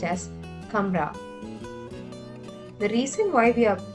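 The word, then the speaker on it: कमरा: madra in that case the letter has to be pronounced as a half letter and that's why we pronounce it as camra.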